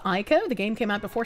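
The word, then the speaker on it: Ico: How silly of me thinking that I could survive what Japan could not load my file you It's pronounced Ieko.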